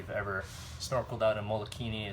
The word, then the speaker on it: Molokini: any of you have ever snorkel down in Molokini it's really really cool you have to actually take a boat out there but it's a really it's a small little crater and it's pronounced Molokini off to the side we'll just come up